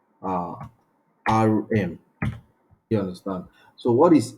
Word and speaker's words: rem: we have REM if you understand which is pronounced uh r m you understand so what is M what is